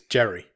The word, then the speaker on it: Jere: Second billed member of cast is a guy called, how do you pronounce this guy's name? It's Jere. Jere? I guess it's Jere.